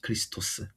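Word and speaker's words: Χριστός: 원래 발음으로는 이제 크리스토스.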